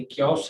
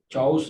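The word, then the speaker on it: chaos: और इसी तरह से क्योस है, चाउस नहीं है।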